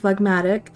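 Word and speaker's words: phlegmatic: lesson with wifey I did say it right fmatic um it means having an unemotional and stolidly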